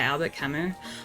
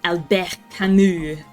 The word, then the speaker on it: Albert Camus: Make him read The Stranger by Albert Camus. Honestly, or Albert Camus, if you want to say it properly.